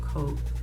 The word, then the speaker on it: Coax: I want to say it's called Coax because it's spelled like hoax but with a C.